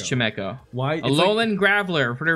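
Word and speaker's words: Chimecho: spoinken chemeko time echo would you say it right now chameco it's not true it's chemeko why alolan graveler for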